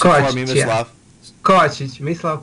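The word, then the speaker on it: Kovačić: Pronounce it for me, Mislav. Yeah. Kovacic, Mislav Kovacic.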